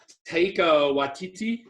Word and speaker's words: Taika Waititi: I don't know how to pronounce the guy's name, but it's Taika Waititi.